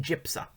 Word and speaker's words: JPSA: As proof of legal abortion safety, he points to the Joint Program for the Study of Abortion, JPSA, pronounced JIPSA, which got all of its information from abortionist records.